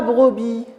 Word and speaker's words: brebis: cris gens n'ont pas la brebis la brebis très bien je prononce pas la lettre s maintenant vous avez pu